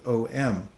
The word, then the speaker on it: Om: way that language works it's originally AUM but through the the rules of Sunday through various vowels get merged together it becomes om so this is actually